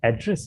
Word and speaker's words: address: dictionary නෙවෙයි හැබැයි මේ වගේ වචනයක් make මොකද්ද address නේ address Yes.